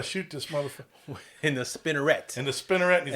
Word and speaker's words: spinneret: Yeah, so they go through this whole scene where he's like pronouncing the word out to him, and Jose is repeating it's like spin, et. Yep. Spinneret.